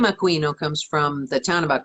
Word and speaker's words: Aquino: your last name aquino think of a queen how hard can it be i am not latina i'm actually it's italian which is why it's pronounced aquino i appreciate it when people say aquino but it's incorrect because we're like like